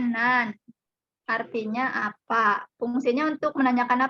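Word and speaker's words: 何: Ini kanji yang nomor 4 ini dibacanya nan. Artinya apa? Fungsinya untuk menanyakan apa tadi? Kalau nan, menanyakan apa? Menanyakan kata benda. Ya. Nan atau nani fungsinya menanyakan benda.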